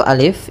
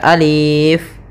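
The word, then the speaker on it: ألف: maka ketika kita membacanya untuk Alif ini la yumaddu tidak dimadkan Tidak dipanjangkan sehingga Jangan dibaca Alif tapi hanya pendek saja Alif Kemudian pada lafal lam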